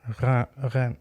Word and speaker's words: Rennes: Rennes. Yeah, it's the roll, isn't it?